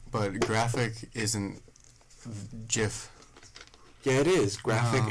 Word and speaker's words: GIF: Look at this GIF I sent of this duck.